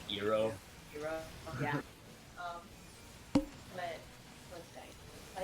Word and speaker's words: Iroh: Sokka's name is pronounced Soka. Soka. Iroh, his name was also pronounced Iro. Iroh.